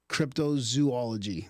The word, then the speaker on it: cryptozoology: told that's wrong and it should be crypto zoology because it's zoology three o's yeah some people say cryptozoology like there's a zoo in it yeah that's